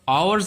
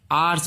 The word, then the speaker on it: hours: याद रखिएगा इसका उच्चारण कई लोग गलत करते हैं, इसे HOURS आवर्स नहीं बोलते हैं, आर्स बोलते हैं।